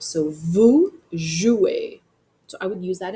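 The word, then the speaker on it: vous jouez: That ez makes an a sound. So vujouer.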